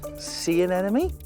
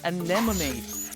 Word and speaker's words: anemone: See an enemy? That is correct. Though it's pronounced anemone, which crabs attach their claws to sting predators.